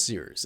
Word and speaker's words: Cyrus: My name is Sears. It's spelled like Cyrus, but not like See Rooster, just take out the ter.